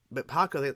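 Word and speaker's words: Pakku: But Paku, that's how you pronounce his name, who fought Katara and everything,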